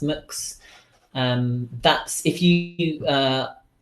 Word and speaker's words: Mx: so to speak M little X and it's pronounced mooks that's if you you it's quite fun actually